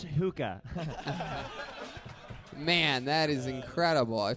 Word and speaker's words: hookah: Tony, it's pronounced hookah.